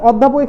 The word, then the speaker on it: অধ্যাপক: ঠিক আছে, এবং হচ্ছে অধ্যাপকের ক্ষেত্রে, অধ্যাপক তুমি উচ্চারণ করো, অধ্যাপক কি পাচ্ছি তুমি, পাচ্ছ, তাহলে হইলে সেটা কি হবে, আমার সংবৃত্ত হবে।